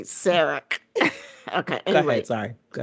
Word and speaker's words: Sarek: It's like Sarah with a K. Sarek.